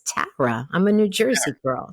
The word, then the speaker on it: Tara: first name right cuz I do not like Tara Tara it's Tara I'm a New Jersey girl so you said